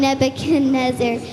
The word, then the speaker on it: Nebuchadnezzar: from my table yes King nebuch nebuch nebuch pronounce it Nebuchadnezzar yes King Nebuchadnezzar Israelites take a hi dismiss